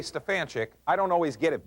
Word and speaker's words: Stefanchik: the proper spelling s-t-e-f-a-n-c-h-i-k so whenever I say Stefan chick I don't always get it back the way